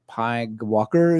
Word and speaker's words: PyGWalker: PYG Walker, and you might be saying, Michael, come on, PyGWalker is this? I know It says right here, pronounce PyGWalker just because you can and it's fun.